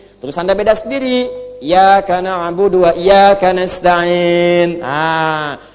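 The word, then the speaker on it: إياك: Jadi kalau kita baca pakai tasydid iyaka na'budu wa iyaka nasta'in.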